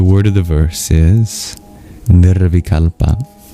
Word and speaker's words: nirvikalpa: The word of the verse is thealpa.